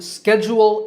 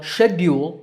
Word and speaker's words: schedule: Similarly, schedule is the American pronunciation, while schedule is British. Again, the first syllable is stressed in both accents.